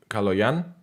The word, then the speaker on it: Kaloyan: So your name would be Kaloyan? Kaloyan? Yeah, yeah, the stress lands on the last syllable.